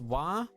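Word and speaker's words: は: And so basically wa, it's pronounced wa, but it's read ha.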